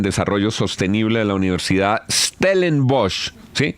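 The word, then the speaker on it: Stellenbosch: Susana Mohamat es politóloga de la Universidad de los Andes, magístra en desarrollo sostenible de la Universidad Stellen Bosch. Sí, pronuncié bien Stelen Bosch.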